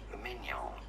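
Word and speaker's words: Maignan: In French, in France, it is said as Mike Mignon. Mignon. Mike Mignon. Very straightforward once you know. That was Mignon. That was like the Minions. Mike Mignon.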